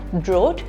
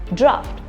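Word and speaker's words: draught: The second word being draft. Although it has a totally different spelling, you do not pronounce it as drought, you pronounce it as draft.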